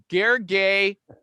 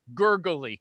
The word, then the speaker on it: Gergely: too okay uh the guest today is named gargay okay and here's how i'm going to